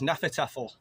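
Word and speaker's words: Hnefatafl: This is Hanafatafl. It's spelt with a H, it's like Hanafatafl.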